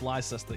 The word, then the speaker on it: Leicester: You're pronouncing Leicester wrong. It's Leicester. Yes, Leicester. Leicester City.